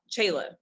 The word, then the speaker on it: Chela: to jail name so um i go by chayla which is spelled c-h-e-l-a um otherwise and the last name